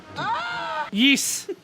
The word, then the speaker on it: Ys: Ys. That's how you pronounce it.